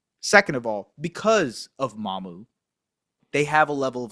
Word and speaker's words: Mamukelashvili: And by the way, someone said, "How do you guys pronounce Mamukelashvili?" Sandro Mamukelashvili. Respect me, man. I I can do it better than the broadcast can. Sandro Mamukelashvili. Sandro Mamukelashvili.